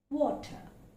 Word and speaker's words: water: The first word is water. Water. So it's a long, it's not water, it's water. That's a long O sound.